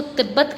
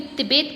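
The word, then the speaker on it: Tibet: कोई इसको तिब्बत कहता है, कोई तिबेत कहता है, कोई टाइबेत कहता है। आपकी जो मर्जी आप प्रोनाउंस करें इसको, ठीक है, because we आर not Chinese.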